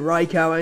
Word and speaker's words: Raikou: I don't know, people pronounce it Raikou, some pronounce it Raikou, and it's pronounced Raikou in the anime and on Pokédex 3D.